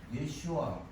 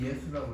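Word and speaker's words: ישוע: 그 피나스, 우리 저 권사님을 위해서 우리는 예슈아 아라고, 이게 본토 발음이에요. 이게 우리는 예수라고 그러죠.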